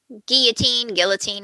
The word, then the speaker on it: guillotine: they pass a guillotine, however you want to pronounce it. I like guillotine. I think either is correct. I think that's the correct way, isn't it? I think you can say it either way.